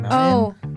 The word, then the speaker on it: mountain: do you pronounce mountain mountain K Mountain you don't say the T you don't say the T Mountain no that is something